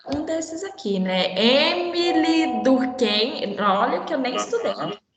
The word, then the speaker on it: Durkheim: Aí você e o EI junto, você fala ai, certo? No alemão. E junto fala ai. Aí como é que fica, então? Fica Durkheim.